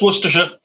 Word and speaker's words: Worcestershire: That's easier than how we say it. I had like 14 syllables in there. No, just Worcestershire. See, it's just Worcestershire. it's so relaxed and just like flows out.